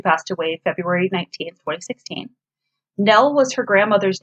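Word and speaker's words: Nelle: She was worried people would pronounce it Nelly because of the E.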